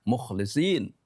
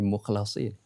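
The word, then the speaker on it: الْمُخْلَصِينَ: Orang bisa salah bisa saja baca innahuana min ibadinal mukhlisin. Sesungguhnya dia adalah termasuk hamba-hamba kami yang mukhlisin. Tapi enggak baca, enggak dibaca begitu, tapi dibacanya mukhlasin. Ya, setelah secara tulisan sama ya.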